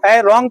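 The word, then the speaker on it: wrong: देख व्ट इ र रंग पढ़ेंगे इसको डबल साइलेंट होता है बा रंग मीस क्या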